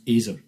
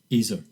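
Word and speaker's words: ezer kenegdo: helper fit for him is ezr conego pronounced azer ez er azer and it's used twice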